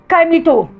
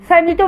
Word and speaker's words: caimito: तो इसका नाम है पटीरिया खाइमेटो, साइमेटो भी कहते हैं, खाइमेटो भी कहते हैं, प्रोटीरिया साइमेटो। अच्छा, इसकी स्पेलिंग मैं बताती हूँ, आप भी ज़रूर सर्च कीजिएगा इसको।